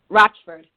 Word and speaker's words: Rochford: it uh Rockford or roachford how do you pronounce the last name so I'm sure I'm right Rochford like uh r o TCA but not spelled